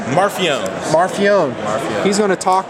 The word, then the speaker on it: Marfione: Marfione.